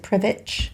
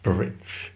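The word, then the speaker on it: Prvić: water taxi to, I think you pronounce it Prvic. Prvic.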